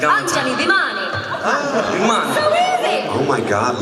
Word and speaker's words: Bhimani: Bhimani.